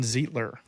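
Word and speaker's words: Zeitler: as for Right Guard like you said Kevin zler is how that is how it's pronounced there only one year's a little older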